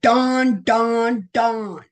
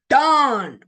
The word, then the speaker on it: Dan: And see how hard this is because they spell it Dan. Okay, I kept saying we're going to call it Dawn. Okay, so it was called Dawn.